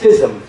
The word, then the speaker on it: FISM: a competition, and that competition is known as FISM. FISM is spelled F as in Frank, I-S-M, and it's a really high-level competition.